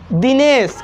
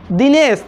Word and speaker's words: Dinesh: तो हम लोग यहाँ पे देख रहे हैं कि जो नाम वाले आई हैं, जो नाम वाले आई हैं, वो आई ई की ध्वनि देती है।